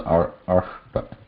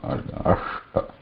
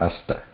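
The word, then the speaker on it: अष्ट: So we have also in the ashta, can come in between also. Ashta. Here there is a murdhanya, or this sh, murdha. Ashta. This is not asta. Ashta.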